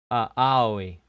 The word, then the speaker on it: Aoi: Pronounce AO as all. Oh. Aoi. Oi. It's one syllable.